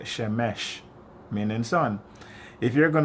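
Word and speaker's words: שמש: a, you'll always have shamash. How do you say son? You have to say shemesh, because that's how they say son in Hebrew.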